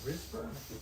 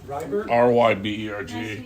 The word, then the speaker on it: Ryberg: is your last name Risberg? No, there's no S in there. Ryberg? Ryberg.